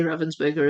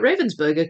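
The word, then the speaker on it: Ravensburger: I say Ravensburgger as it's pronounced in German. So, for for years, I didn't know it was pronounced Ravensburgger. And so, I would just call it Ravensburgger cuz that's how you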